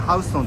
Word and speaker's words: Houston: Este Houston se llama Houston en Nueva York, pero se escribe Houston. Creo que probablemente solo se encuentra en Nueva York, ¿verdad? ¡Se pronuncia Houston!